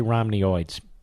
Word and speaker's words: Romneyoids: I should say Romneyoids. Rhymes with hemorrhoids.